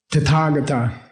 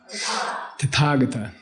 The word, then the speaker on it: Tathagata: Tathagata. Tata means that way. Tata. Say tata. The accent's on the second syllable. Tata. Tathagata. It's not Tathagata.